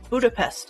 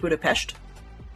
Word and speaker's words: Budapest: Says we're off to the next stop of Budapest in Hungary. I'm mispronouncing that for sure. I think it's closer to Budapest. SHT sort of pronunciation.